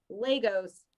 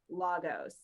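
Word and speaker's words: Lagos: Lay-gos, not Lah-gos.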